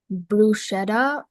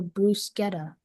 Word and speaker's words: bruschetta: Your word is bruschetta or bruseta.